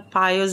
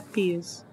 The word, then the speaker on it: Pius: Eu acho que existe verdade. uma possibilidade de que seja pronunciado Pius em inglês, mas sim, com certeza a pronúncia original é Pius.